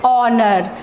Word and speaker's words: honor: Now here also H is silent. We pronounce it honor.